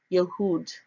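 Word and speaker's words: יהוד: to Strong's each 3061 it is pronounced yahood yahood it is written in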